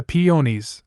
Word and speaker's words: peonies: as embarrassed as he had been when he told me my landlord had liked the peonies rhyming with ponies in front of my